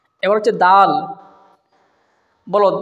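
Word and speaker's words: دال: দালের উচ্চারণ সেরকমই হবে দালের উচ্চারণ হচ্ছে জিহ্বার আঁক আর সামনের দুই দাঁতের গোড়ার থেকে দাল আদায় হয় যেমন তা আদায় হয়েছিল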